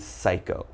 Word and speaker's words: psycho: So as you notice, PS is very common, but don't say the P, all right? So just one more time, I'm gonna pronounce these for you, so listen up. We start with pneumonia, psalm, psychology, psychiatrist, psychic, and psycho. So all right, if you ever see these words in something you're reading, just remember there's a silent P when the word begins with P and is followed by a consonant.